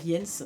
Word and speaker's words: Jens: Donc il y a un petit garçon qui s'appelle Jens, je veux dire Jens, parce qu'en général le J se prononce Y. Enfin I quoi.